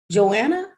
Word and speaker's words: Johanna: engage joanna john anna am i pronouncing that right yay all right how are you pronounce your name i want to make sure i'm pronouncing it correctly johanna johanna okay johanna so looking at these